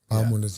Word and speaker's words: Bahamondes: Oh yeah, Bahamondes. How do you say his name? Bahamondes, you said it right.